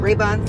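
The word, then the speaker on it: Rabun: still in Georgia yeah is how you say it um r-a-b-u-n rainbow Raybon Raybon County somewhere I'm gonna show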